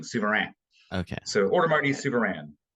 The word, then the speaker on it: Souverain: That last is like a kind of a nasal guttural thing. Souverain.